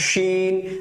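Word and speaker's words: شين: করে আওয়াজ হবে সিন তারপরটা স্যার সিন সিনটা উচ্চারণ করার সময় কি করতে হবে স্যার মুখ ভর্তি করে আওয়াজ হবে শিন আপনি যখন সিন এটা বলবেন মুখের ভেতরে আওয়াজে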